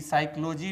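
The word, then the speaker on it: psychology: दोस्तों, यहाँ भी ध्यान देने वाली बात यह है कि साइकोलॉजी में शब्द के शुरू में ही साइलेंट लेटर पी आता है।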